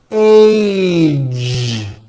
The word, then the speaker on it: age: Age. It's not H. It's age with a voiced ending.